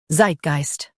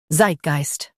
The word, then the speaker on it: Zeitgeist: Zeit geist Zeitgeist Stress the Zeit syllable and keep geist smooth.